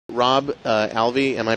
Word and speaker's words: Alvey: Rob Alvey am I pronouncing your name properly that is correct all